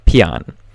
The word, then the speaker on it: Paean: word of that title and I could not pronounce it but it is it I found out how and it is uh Pon and basically pan just means a hymn or a song of